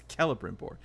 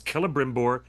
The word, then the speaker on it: Celebrimbor: I keep saying Celebrimbor, and you keep telling me it's a hard C. It's Celebrimbor.